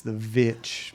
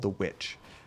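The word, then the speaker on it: The VVitch: It looks like it's spelled with 2 V's, The Vitch, but I think it's just called The Witch.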